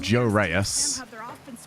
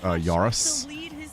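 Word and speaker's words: Joreuz: correctly do miss the good old days of Joe Rees I mean if we were to say it probably it's like a yurus is his actual way of pronouncing his name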